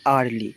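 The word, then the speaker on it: early: আমি উচ্চারণটা ভুল বললাম। ওটা আরলি। ঠিক আছে?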